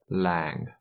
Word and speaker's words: làng: For example, this word is pronounced làng.